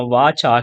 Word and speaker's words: VARCHAR: මේ VARCHAR කියන එක අපි pronounce කරනවා වාචා කියලා.